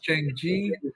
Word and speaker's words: Xiangqi: it's a board game with two players, but I believe it's pronounced Changji. That's the name of it. It's a popular game in China for sure. Xiangqi.